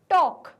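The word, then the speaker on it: talk: Next है हमारा word टॉक। अब इस टॉक में भी एल वर्ड साइलेंट है।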